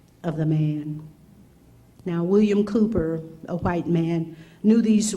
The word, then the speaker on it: Cowper: This man his name is William Cowper, but it's spelled C-O-W-P-E-R.